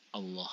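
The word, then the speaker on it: الله: kalimat lafdzul jalalah Allah kalau lafadz Allah ini didahului dengan huruf fathah atau dhomah ya ingat fathah atau dhomah yang mendahului lafadz Allah maka bacaan Allah ini harus dibaca tebal maka cara membacanya menjadi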